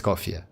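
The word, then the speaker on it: Escoffier: do the video tomorrow Mrs. Scofier has really her official name pronunciation Mrs. Cofier Mrs.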